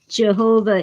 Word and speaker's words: Yahweh: Jehovah is just a way that some people pronounce Yahweh.